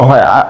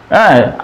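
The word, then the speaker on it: هو: কুলহু আল্লাহু আহাদ আসলে এখানে হুয়া শব্দটি কিন্তু একটি আলাদা একটি শব্দ হুয়াল্লাহু আহাদ তো এখানে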